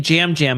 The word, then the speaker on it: Yam Yam: I have spent a good amount of time not watching the show, watching the show, thinking about why is his name Jam Jam, but it's spelled Yam Yam.